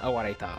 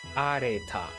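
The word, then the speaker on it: 荒れた: It's not awareta. Okay. Areta? It's areta.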